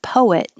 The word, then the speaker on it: poet: or one syllable poem but poet is always two syllables poet i'm a poet